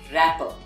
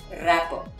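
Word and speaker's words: wrapper: say rapper but well the w remains silent and we pronounce this word as rapper from the letter r so it is rapper you write w but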